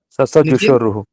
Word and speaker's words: ससजुषोरुः: स अलग है, सजुष अलग है।